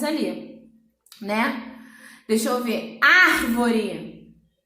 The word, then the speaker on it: árvore: Árvore. Árvore. Veio uma consoante depois e uma vogal antes. Então, ele veio precedido de vogal e sucedido de consoante. Então, o R é forte mesmo estando sozinho.